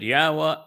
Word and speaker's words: Yahweh: And his name is Yahweh, something that Yahweh enabled me to recognize and prove, then share over 20 years ago.